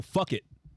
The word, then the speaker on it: Phuket: We're in Phuket here, but Phuket is Oh, fuck it. Phuket. That's how you pronounce it?